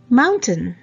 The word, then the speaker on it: mountain: But some words that end with T-A-I-N, on pronunciation I tain, like maintain. But words like mountain and fountain, you don't say mountain or fountain. Mountain.